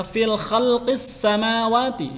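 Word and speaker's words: في خلق السماوات: Nah, hukum alif lam syamsiyah itu di sini hukum bacanya fil khalqis samawati. Ini hukum bacanya khalqis. Nah, ya. Alif lamnya tidak dibaca.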